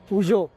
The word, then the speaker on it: Peugeot: If you listen to the way the French people pronounce it, correct pronunciation is actually Peugeot.